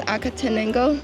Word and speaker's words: Acatenango: go for it because the how do you pronounce acatenango?